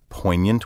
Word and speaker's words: poignant: cutting acute piercingly effective poignant wit poignant delight a poignant critique the odd spelling of poignant with its silent g comes from french the word ultimately comes